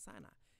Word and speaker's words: Sinai: in there, but in the cipher, Safa, it's spelled with a C, not with C. Look here, Ciyynai. Moshe was on Mount Sinai.